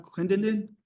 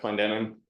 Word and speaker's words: Clendenin: Clendenden? I might butchered that. My name is Clendenin, live at 324 E Avenue here in town.